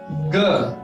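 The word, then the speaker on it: 哥: Elder brother in Chinese we have ge. How will we pronounce it? Ge. G-E. Ge.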